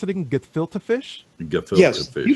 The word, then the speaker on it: gefilte: They're What is how do you pronounce it again? Gefilte fish?